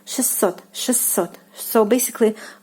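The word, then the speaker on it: шестьсот: And it is pronounced, listen carefully, it is pronounced like 600, 600. So basically the t sound is like omitted here, and you like pronounce it like with two s.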